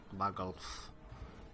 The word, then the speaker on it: Vargulf: That's how you pronounce it, Vargulf.